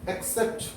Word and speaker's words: accept: एक्सेप्ट ACC, तो यहाँ पर पहले वाला C क है, दूसरा वाला C स है.